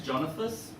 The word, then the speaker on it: Jonathas: um my name is jonathas it's like Jonathan but not basically people can't pronounce